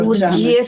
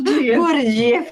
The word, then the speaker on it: Gurdjieff: Georgiano, Gurdjieff, sì. come lo pronunci tu? Non lo pronunci mica facile. No? Gurdjieff, adesso lo pronuncerò anch'io così.